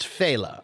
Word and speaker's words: Fela: And I'm pretty sure his name is pronounced Fela. That's how I've always heard it pronounced, unless they're pronouncing it incorrectly too.